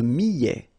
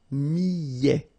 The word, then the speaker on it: millet: Le millet, here, I, and then double L, so I, millet, E-T at the end, open, millet.